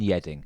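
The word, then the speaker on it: Yeading: and Yedding.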